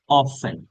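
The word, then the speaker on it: often: কত বছর পর পর মাসে কতবার যখন হাউ অফেন টি এর উচ্চারণ হয় না অফ অফেন অফেন অফ অথবা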